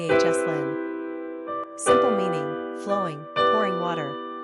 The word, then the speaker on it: Yoselin: Pronunciation, Yahslin, Yahslin.